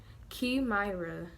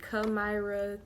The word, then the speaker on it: Kimyra: So my name is Key, like a key, Kimyra. And a lot of people say Kamyra, Kimyra.